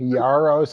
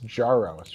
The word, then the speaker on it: Jaros: So you've been softening the J. Yaros. And it's Jaros, right?